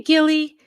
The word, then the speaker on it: Gilly: how far behind oh it's a hard G okay Gilly Yay hopefully I remember